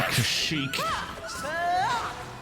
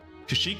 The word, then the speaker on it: Kashyyyk: There's 3 Ys. They're pronounced like E's.